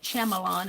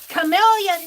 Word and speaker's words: Chameleon: I was pronouncing it Shyamalan, and they were making fun of me. It's Chameleon, Meri. Oh, I was pronouncing it like it looked like. Well, it's Chameleon. Chameleon should be K-I-L-L, K-A-M-I-L-I-O-N, not C-H-A-M.